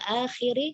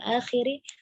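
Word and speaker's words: الآخر: Nah, kemudian wal yaumil akhiri itu yang agak dipanjangkan hamzahnya ya, jangan wal yaumil akhir ya, tidak kha-nya yang dipanjangkan tetapi hamzahnya wal yaumil akhiri falyaqul khairan aw liyasmut.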